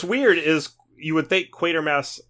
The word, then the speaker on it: Quatermass: But it's Quatermass. It's not Quartermass. Quatermass.